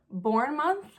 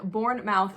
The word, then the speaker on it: Bournemouth: Looks like Born Mouth, but I know that's not right.